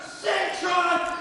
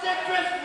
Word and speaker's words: Cintron: If you don't start pronouncing this man's name right, it's Tyler Cintron. If you keep calling him Citrus, we're out of here, and you're not getting any Firebrand title match.